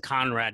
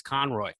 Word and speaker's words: Conroy: But well, you can't even pronounce his name right because it isn't Conrad either. It's Conroy. Conroy, man.